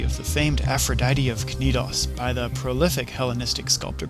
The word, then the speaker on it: Knidos: into the aian sea you might also come across the pronunciation nidus but that's just plain silly in his work called